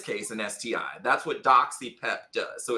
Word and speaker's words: doxyPEP: great question uh and I want to um ensure that I say doxy pep because so I'm saying it wrong I'm doing it wrong it's doxy pep it's doxy pep okay I'm gonna draw